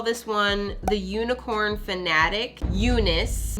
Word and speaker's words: Unice: one the unicorn fanatic Unice not spelled with an e but spelled with a u cuz it's unicorn Unice Eunice was not always